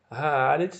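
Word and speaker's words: הארץ: Haaretz, eu tenho aqui uma palavra, um substantivo, mais o artigo que está aqui destacado em amarelo. É assim que pronuncia, haaretz, né?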